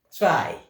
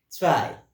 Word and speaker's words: zwei: Zwei. Zwei. Repeat that. Zwei. Zwei. Okay, zwei. Remember we say W carries that V sound.